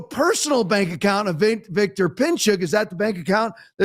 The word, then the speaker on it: Pinchuk: Let me pronounce it right. Pinchuk.